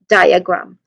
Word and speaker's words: diagram: Pronunciation wise, we start with die. So there's a diphthong sound here. I, that's a diphthong sound. You start, you pair it with a starting sound, letter D sound, D, with I. So die. That's the first syllable, die. And then die, So there, you followed it with with the schwa sound, the short, unstressed, quick vowel sound, So die, die, then you end it with grum.